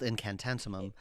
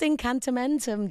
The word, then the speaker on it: Incantamentum: I mean, it sounds silly because I played the demo and it was called Incantantumum. Yes. It was called Incantamentum, Dave. This is why we changed the name, because I never pronounced it or spelt it correctly once.